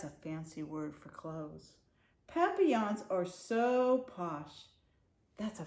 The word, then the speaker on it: papillon: You say it like this, papillon. In French, it means butterfly.